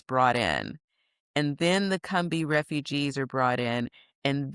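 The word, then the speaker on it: Combahee: was going to write a book about the Cumbi raid.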